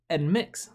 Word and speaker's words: NMIXX: Oh, it's they're pronounced Nmixx. Nmixx. So the N isn't silent. It's just Nmixx, right?